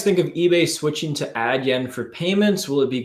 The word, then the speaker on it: Adyen: What do you guys think of eBay switching to Adyen for payments? Will it be good or bad? Is that how you pronounce it? Adyen, yeah.